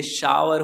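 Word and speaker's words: shower: होता है, इसलिए इसको टावर और शावर पढ़ा जाता है।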